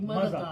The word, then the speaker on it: Maaza: Maza, like Maza. It's Maza, but spelled Maza, yeah.